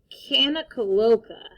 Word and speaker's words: Kanakaloka: In Hawaii, Santa Claus is called Kanakaloka. Kanakaloka. Say Kaloka. Kanakaloka. Are you ready to spell it?